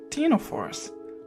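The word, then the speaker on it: ctenophores: but they're not they're called Tino force with a silent sea or com jellies com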